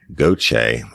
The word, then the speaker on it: Gauthier: Brittany Gauthier, and I know how to say that because I'm from South Louisiana. It's spelled Gauthier. Brittany wants to know, she